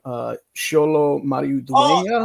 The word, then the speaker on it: Xolo Maridueña: The homie from Cobra Kai, I believe you pronounce his name Xolo Maridueña.